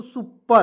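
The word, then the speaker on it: super: पी ए से प देखिए ई का इसमें साइलेंट करेंगे ठीक है और आर से होता है र लिखेंगे तो एस यू पी ई आर तो क्या पढ़ेंगे दोस्तों सुपर पर ठीक है उसके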